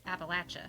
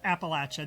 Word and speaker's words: Appalachia: But I think there it's Appalachia. Yeah, she said it's Appalachia. There's a latch in the middle.